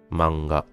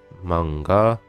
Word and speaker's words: manga: Donc beaucoup de Français, disons quasiment la totalité des Français, prononcent ce mot manga. Mais c'est pas vraiment manga, c'est bien Ma, ensuite et ga. C'est pas ga, c'est ga. Donc c'est pas manga, c'est manga. Manga.